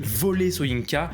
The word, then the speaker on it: Wole Soyinka: nom il paraît que ça se dit volet soyinka voire même volé shrink bon alors ce qui